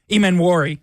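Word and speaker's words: Emmanwori: pronunciation the first time that there is a silent n at the beginning of his name no no okay I give up on this one it is e m m a n w r i Ean wari that's my fault I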